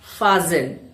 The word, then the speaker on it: fasten: Now let's focus only on words where t is silent because this is a very common problem. You fasten your belt. Fasen.